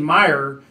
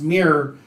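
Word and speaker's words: Myre: correct the pronunciation because we were saying meijer and it's not it's pronounced mirror who is the hero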